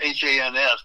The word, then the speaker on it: Hans: It's H-A-N-S, but it rhymes with chance.